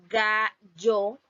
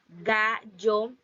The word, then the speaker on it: gallo: También tenemos la palabra gallo, gallo, y su pronunciación que siempre algunos de los hablantes, porque Panamá también está incluido en uno de esos países que utiliza el yeísmo.